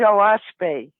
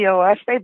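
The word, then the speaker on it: Oahspe: the the the fais it's spelled o a s p and it's actually three syllables which stands for Earth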